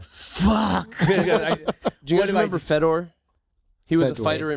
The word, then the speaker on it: Fedor: Oh, you said Fedor. No, it's Fedor.